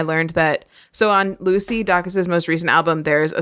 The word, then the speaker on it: Dacus: that, so on Lucy Dacus's most recent album, there's a song called Please Stay. And Hannah, I need to issue a formal apology. I think you were right that it's Lucy Dacus.